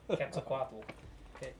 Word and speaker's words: Quetzalcoatl: How do you feel about the pronounce that for me, please? Quetzalcoatl.